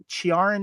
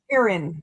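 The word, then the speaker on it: Ciarán: And that's uh Chiaran Hines or Hines. Kieran. Kieran. Is it Karen? Karen. Kieran. Like Kieran Kulkin. Kieran. Okay. Kieran Hines.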